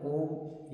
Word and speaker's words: ओम: बीज मंत्र है ओम या औम। कुछ परंपराओं में ओम या ओम का सूक्ष्म उच्चारण मिलता है।